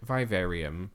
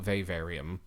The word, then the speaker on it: vivarium: dictionary is vivarium so the word vivarium or V varium uh depending on how you pronounce it is a place